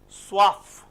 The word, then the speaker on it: soif: Soif. We learned wa and we pronounce for. Why? In others we didn't pronounce. But whenever C, F, L, R, they come at the end, you have to pronounce generally.